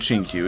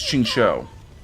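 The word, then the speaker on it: Qingque: it's what you mean it's not chin Q it's Ching show how much is I'm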